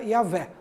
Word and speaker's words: Yahvé: Então, segundo estudos de linguistas, né, hebraicos, mas testemunhos do período patrístico, eles chegaram à conclusão que o nome mais próximo seria Yahvé.